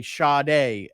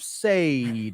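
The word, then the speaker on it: Sade: to say their name so we would play sha day say d yeah and you know I didn't know how to say it so I'd be like coming up we have say and then the listeners were so good they would call up and and critique us I'm like you're saying it wrong took some notes I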